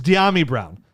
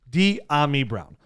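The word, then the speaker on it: Dyami Brown: overthought it that's right it's diami brown d ami brown and this is the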